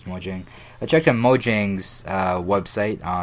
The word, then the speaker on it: Mojang: I believe it's actually pronounced Mojang, but everybody says Mojang.